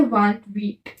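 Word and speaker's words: vingt-huit: 28 को बोलते हैं वांट वीट। क्या बोलते हैं? वांट वीट। इसको व, इसको वीट साथ में मिला के बोलते हैं वांट वीट।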